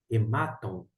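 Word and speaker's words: ῥημάτων: agora a pronúncia inicial, a pronúncia correta dentro da pronúncia erasmiana é hematon, hematon por conta da situação, porque nesse mar, esse acento indica a sílaba tônica.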